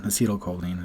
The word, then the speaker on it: acetylcholine: neurotransmitters and I'll give you some examples acetylcholine acetylcholine is how you pronounce it acetylcholine is responsible for your attention